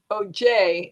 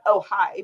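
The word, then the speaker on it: Ojai: as we know oh i guess you would say oj if you didn't know that the j was pronounced as an h kind of like if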